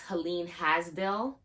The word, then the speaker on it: Helene Hadsell: So most of you probably know about the person, I think her name is pronounced Helen Hadsell.